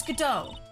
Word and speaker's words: Godot: Oh, it's Godot. Silent T, it's French. Oui. I'm so sorry. I believe it's pronounced Godot.